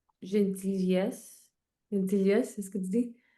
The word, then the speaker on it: gentil: Gentil comme the last letter typically silent.